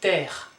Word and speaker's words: terre: Then we have terre, terre. Don't pronounce that, so it's not terrain, it's terre.